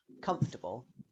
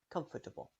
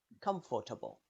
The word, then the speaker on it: comfortable: c or you might hear some people pronounce a short schwa sound in between comfortable if you pronounce a long vowel sound here it will sound strange comfortable that doesn't sound right in summary there's a